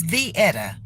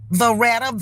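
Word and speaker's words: Veetta: My name is Vietta. V-E-E-T-T-A. I've been called Vietta, A-T-T-A. I've been called Veretta, Vanetta, all kind of stuff that ain't close to it.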